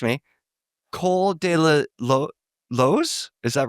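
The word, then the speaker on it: Col de la Loze: Am I I'm going to pronounce this wrong, guys. You correct me. Cole de la Lo. Is that right? Co de la.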